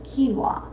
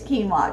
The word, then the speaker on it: quinoa: It almost looks like it's spelled like you would say kunoa or what. I never used to say it, but it is quinoa just in case you've never said it out loud so you don't embarrass yourself at a party with friends. So, it's quinoa, but the way it's spelled it's qu i n o. Anyway, I'm not sure who